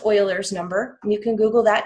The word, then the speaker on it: Euler: have what's called Euler's number it looks like Euler's number but it's actually pronounced Euler's number you can google that too this is